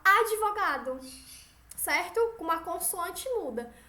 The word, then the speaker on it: advogado: ritmo pneu captou certo Olha como a gente pronuncia estas consoantes mudas certa a gente não vai falar advogado a gente fala advogado certo com uma consoante